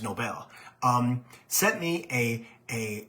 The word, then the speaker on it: Nobel: a Steve Nobel um that's how that's that's how I pron pronounce this his name I found out yesterday is Nobel um sent me a